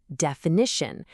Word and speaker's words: definition: We all say define with that long i sound, but add an ending and it becomes definition. The i is totally gone, and it's replaced by a short i sound.